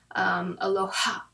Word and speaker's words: Aloha: The ha is your breath. So like when you say it properly, you should say it with your soul, say it with your heart. Aloha.